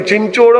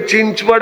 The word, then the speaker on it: चिंचवड़: चिंचोड़ और चिचौडी एक ही है। अरे चिंचचोड़ अलग है भाई। वो चिंचोड़ है नहीं चिंचवड़ है।